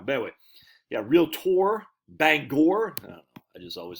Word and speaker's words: Bangor: I think he's the one said I think they pronounce it not Bangor. Don't they pronounce it Banger?